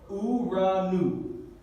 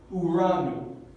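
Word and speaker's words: οὐρανοῦ: Y necesitamos tener cuidado cuando estamos pronunciando esta palabra porque esta letra no se pronuncia P y esta letra no se pronuncia como P chica, sino ro y nu. Entonces decimos uranu, uranu, uranu, uranu.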